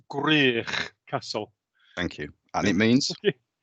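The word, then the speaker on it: Gwrych Castle: to pronounce it for me well it's it's pronounced grier castle thank you and it means um i believe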